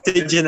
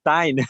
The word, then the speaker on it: Tijn: Yeah, everyone says Tidgeon, and I'm like, the Dutch pronunciation, it's Tyne. It is Tyne.